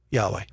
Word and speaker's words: Yahweh: It should be Yahweh, right?